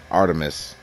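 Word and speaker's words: Art3mis: a female gunter named art threamus pronounced artemis i discovered it about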